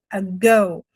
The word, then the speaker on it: ago: E na nossa pronúncia aqui, nós vamos falar um a go bem forte, um a rapidinho. E toda nosso stress, toda a nossa força vai tá nesse go, a go.